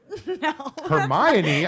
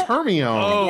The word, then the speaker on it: Hermione: ever a movie I'm like Hermione I thought it was her me oh I pride myself on